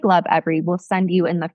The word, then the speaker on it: Lovevery: Just the company is called Love Every. So it's spelled LOVEVERY.